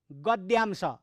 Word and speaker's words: गद्यांश: निकालिएका सारगर्भित भनाइहरू चाहिँ गद्यांश, गद्य। कथा, जीवनीहरू गद्य, कविता पद्य। त्यो गद्यको अंश निकालिएको हुनाले त्यसलाई गद्यांश, अरू उच्चारण हुँदैन। त्यो द र य उच्चारण गर्नुपर्छ भाइ बहिनीहरू।